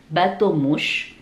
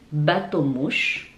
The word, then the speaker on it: bateau mouche: Tips buat yang gak punya banyak waktu ketika datang liburan ke Paris, saya sarankan untuk coba naik bateau mouche. Bateau mouche.